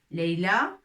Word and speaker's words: ليلى: ولكن إذا أردنا أن نكتب le prénom ليلى اسم ليلى سوف نكتبه بألف مقصورة. الألف ستكون مقصورة. داكوغ مقصورة يعني avec ياء في الأخير وسننطقها ليلى comme ça. ليلى. Leïla, comme ça.